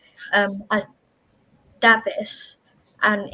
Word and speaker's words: Davies: last name um as davis and it's not or davies and they get confused and it's saying it's spelt like d-a-b-i-e-s but it's pronounced as davis not david so things like that